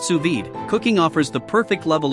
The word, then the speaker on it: sous vide: WS power 1100 WTS what to cook suid pronounced suid cooking offers the perfect level of dness for